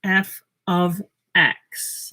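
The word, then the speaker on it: f(x): of nice huh f and then this is pronounced f of x let me write that down so you don't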